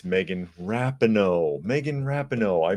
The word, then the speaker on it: Rapinoe: I have to make a retraction talking about Megan Rapinoe, because it's not Megan Rapinoe. Apparently, it's Megan Rapinoe. Megan Rapinoe. I mispronounced her name.